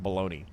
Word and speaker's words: bologna: You You like bologoney? More power to you. Also, why how the how is that word pronounced baloney?